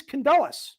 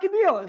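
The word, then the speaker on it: Kandylus: this monk is me, but it is Candalis. All right, dude. And Candalus is spelled with a K. All right. And then N D Y L U S. It's not Cadillas. It's not Condilas. Well, right.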